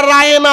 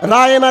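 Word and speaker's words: راعنا: রায়না লিখতে গেলে যে আইনটা লাগে, আইনটাকে একটু টান দিয়ে যখন উচ্চারণ করা হয়, হিব্রু ভাষায় তার অর্থ হয়ে যায় আমাদের রাখাল।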